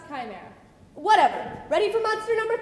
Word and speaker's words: Chimera: it's that one thing with the heads the shoe mirror that's right that's right actually it's pronounced Chimera whatever ready for Monster number three go actors